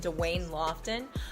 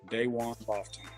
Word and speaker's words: Dwayne Lofton: in the district in Dwayne Lofton. For those who don't know him, what does he bring to the table? So what I'll say first is it's pronounced Daywan Lofton.